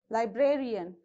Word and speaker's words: librarian: a stress vertical bar now librarian how many syllables you have here are also four syllables then on the third syllable you have to stress from the end so where it is one two three and between i and b you have to put the stress mark okay so musician